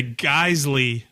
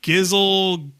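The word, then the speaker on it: Geissele: There is a trigger company out there that looks like it's spelled Geisel? Giselle, looks like it's spelled Geisel, looks like it's spelled a lot of things. It is a Geisley trigger. Even I knew that. Well, a lot of people call it Gizzle.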